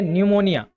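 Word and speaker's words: pneumonia: एक बीमारी का नाम है निमोनिया। जहां पर पी साइलेंट होता है।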